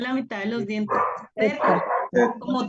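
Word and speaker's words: ζῆτα: ¿Cuál es Zeta. la? No sé por qué se pronuncia Zeta. como con una D al principio, ¿cierto?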